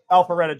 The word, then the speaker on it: Alpharetta: So, Frankie is like he got Alfreda. How do you say that? Alpharetta, Georgia.